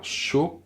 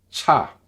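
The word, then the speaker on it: 차: Première, c'est cha, qui veut dire soit une voiture ou le thé, selon le contexte, bien sûr. Le ch avec un bon souffle, cha, cha.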